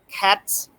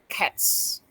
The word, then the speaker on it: cats: Okay, for example, the s and in cats stand next to the voiceless sound like t. T is a voiceless sound. So the s ending sound is s. So we pronounce cats, cats, and the dogs